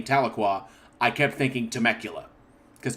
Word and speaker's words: Tahlequah: sorry one more apology i understand that i mispronounced uh tahlequah a number of times this is because i grew up in southern california and every time i